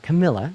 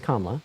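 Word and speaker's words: Kamala: Harris first of all her name is not Camila it's kamla okay Mr gregoryi okay uh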